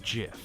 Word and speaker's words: GIF: And it's pronounced Jif. Like the peanut butter.